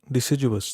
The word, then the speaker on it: deciduous: Deciduous. That is the correct way.